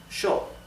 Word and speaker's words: yo: Therefore, the pronoun I, yo, is pronounced sho in Argentina and in Uruguay.